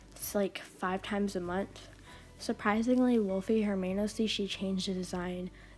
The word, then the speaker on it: Wolfe: them also the name wolfie come on you couldn't even spell it right like with a y or an ie you had to make it an e technically it's pronounced wolf also um they're like